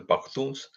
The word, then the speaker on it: Pakhtuns: Pakhtuns also, they call them Pakhtuns. Some people pronounce themselves as Pashtuns. So Pashtuns or Pakhtuns are the same thing.